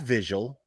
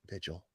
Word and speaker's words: vigil: So right there already, that vigil, that's how you say it, vigil.